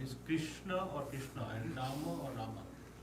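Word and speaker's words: राम: And Rama is Rama, not Rama.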